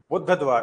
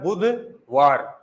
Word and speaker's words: बुधवार: दूसरा शब्द आता है जैसे कि बुद्ध द्वार। अब ये बुद्ध द्वार कोई शब्द थोड़ी ना होता है। शब्द होता है बुधवार। अगर शुद्ध उच्चारण करेंगे तो क्या करेंगे? बुधवार वार।